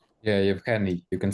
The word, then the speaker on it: Yevhenii: Yeah, Yevhenii.